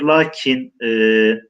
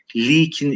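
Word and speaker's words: lâkin: Lakin, arkadaşlar lakin lamdan sonraki elif gösterilmeden yazılıyor. Lakin uzun okuyoruz. Fakat sadece lamı yazıyoruz. Lakin, hatta eski metinlerde, şiirlerde likin şeklinde arkadaşlar bu kelimenin telaffuzu da okunması da var.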